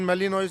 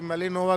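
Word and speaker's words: Malinois: Belgian shepherd नस्ल का, जिसको कभी बेल्जियन मेलिनोइस बुलाते हैं, कोई मेलिनोवा करके प्रोनाउंस करता है।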